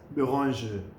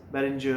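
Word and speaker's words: Bérenger: के, they are BERENGER, बट इट is pronounced in French as बेरोंज बेरोंज। तो अब ये कई लोग जो है उसको क्यों प्रोनाउंस नहीं कर सकते हैं, तो दे प्रोनाउंस इट एज बेरेंजर और वॉट एवर।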